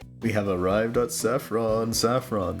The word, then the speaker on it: Saffron: Saffron. The accent is on the A.